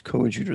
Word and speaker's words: coadjutor: But he corrected me on the term. It was coadjutor. That's how they pronounce it.